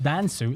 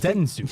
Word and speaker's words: Densu: Dansu is not pronounced Dansu; it's pronounced Densu.